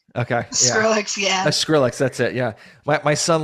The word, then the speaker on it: Skrillex: I don't know if I'm pronouncing it Yes, right. I like Okay. Yeah. Skrillex, yeah. Skrillex.